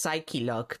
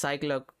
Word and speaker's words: Psyche-Lock: Which is technically pronounced Psyche-lock, but let's be honest, Cyclock sounds better.